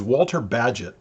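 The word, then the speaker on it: Walter Bagehot: with i want to talk about uh use walter badgett that's the way you pronounce his name he was the editor for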